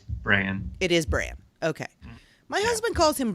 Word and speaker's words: Bran: of thrones is it sam tarly jon snow bran stark or hodor and i have to ask my husband calls him braun if i've been pronouncing it incorrectly all this time it's bran it is bran okay my husband calls him brawn for some